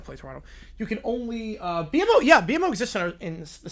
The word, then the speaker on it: BMO: Why they pronounce it BMO? Because it's 3 letters and they're B, M, and O.